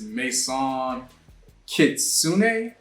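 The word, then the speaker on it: Maison Kitsuné: this brand um and I think how you pronounce it is Mason kitsun um yeah I've never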